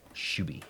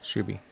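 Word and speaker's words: Shubie: u b i e shuby shuby like shuby Dooby like that um anyways uh it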